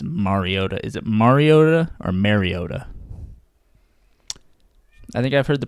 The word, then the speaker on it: Mariota: Is it Mariota or Mariota? I think I've heard the pronouncer say Mariota, so I'm going to say Mariota.